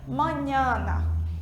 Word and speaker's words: mañana: Lembra que a gente viu na aula passada que essa letra M, que tem um tio em cima, ela se pronuncia N, como se fosse o nosso NH, certo? Então, a gente pronuncia mañana, para amanhã, tá?